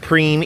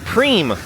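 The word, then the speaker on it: Prien: They told me it's pronounced Preem, even though it's spelled P-R-I-E-N. They said no, like Preem with an M.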